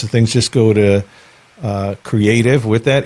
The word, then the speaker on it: CRE8TIV: I'm actually at the Creative Studios. It's spelled CRE8TIV, the Creative Studios.